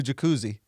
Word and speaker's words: Jacuzzi: been good it's a jacuzzi hey there's bigger pools did you know people did people pronounce it jacuzz um or did they do jacuzzi oh interesting no we